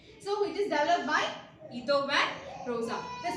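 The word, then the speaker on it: Guido van Rossum: It is developed by Ito van Rosa in 1985 to 1990.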